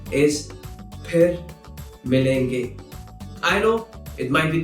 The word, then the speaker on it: फिर: There's no f sound in Hindi.